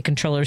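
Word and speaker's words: comptroller: and if I say controller Susanna Mosa like who? Comproll I have to always they hear it the way it's it's spelled.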